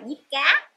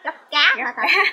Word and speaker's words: diếp cá: Người ta gọi là diếp cá. Còn mình đây ở quê mình đọc là gấp cá. Mấy người ta còn là đọc gấp cá không à, gấp cá giống như gấp con cá ăn vậy.